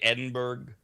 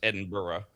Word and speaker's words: Edinburgh: A lot of people say Edinburg Scotland because that's how it's spelled to Americans. It's Edinburgh.